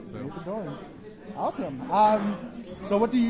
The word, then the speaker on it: Maethodoron: Actually, I was wondering how to pronounce that because I kept... It's a little difficult for the newer people. It's Maethodoron. Maethodoron.